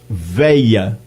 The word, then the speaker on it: velha: Professor Diógenes, há também a pronúncia de veia, em vez de velha, sem o LH.